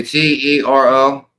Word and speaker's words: Turo: And if you go to Turo, we say Tero.